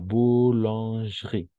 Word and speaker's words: boulangerie: Y tal vez como tip, las E cuando están entre dos consonantes, prácticamente no se escuchan, son como mudas. Entonces, como tip, sería directo a la boulange y directo vamos a la R, porque digamos, no existe esa E.